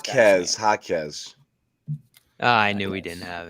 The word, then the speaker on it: Jaquez: How to pronounce Jaquez. I knew we didn't have it. Jaquez.